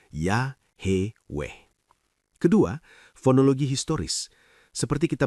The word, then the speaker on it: Yahweh: Jika YHWH memang berasal dari akar HWY dalam bentuk kausatif hifil imperfect, maka pola vokal yang dihasilkan secara natural adalah A dan E menghasilkan ya, he weh.